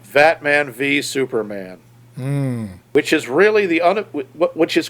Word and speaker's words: Batman v Superman: Not even VS as verses, but Batman v Superman.